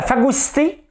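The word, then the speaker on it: phagocytée: C'est à cause de la phagocité par l'ultra-gauche. Hein? La phagocité par ultra-gauche, regardez, ça se prononce comme ça.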